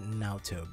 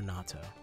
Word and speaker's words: natto: that you detest fermented nalto beans it's pronounced natto or natto those are pretty bad